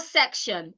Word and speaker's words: section: as a CO sound there is the co sound in it so you say section section while the other one